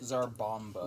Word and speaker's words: Tsar Bomba: The Tsar bomba. That's how you say it. Zarbomba.